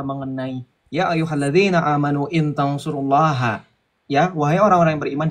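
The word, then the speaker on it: تنصروا الله: Itu kata Allah diikat dengan tansurullah. Makanya dibacanya tansurullah, bukan tansur Allah.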